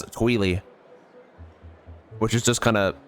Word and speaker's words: Twili: I always thought it was Twilight, but in Hyrule Warriors, the voiceover pronounces it as Tweely, which is just kind of dumb.